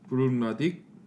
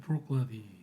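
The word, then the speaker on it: Bruichladdich: 일단 브룩나딕, 저 발음이 어렵네요. 브룩나딕? 브룩라디더라고요. 브룩나디. 브룩라디. 브룩나디. 발음 어려워요. 그때 그 알려주신 How to Pronounce 그 아. 아저씨가 그러니까 브룩라디 끊어서 일단 브룩라디.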